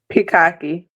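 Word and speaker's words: Pikake: Because I never knew how to pronounce it. Picake.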